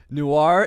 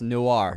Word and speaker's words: noir: Guys, noir is pronounced noir, not noir.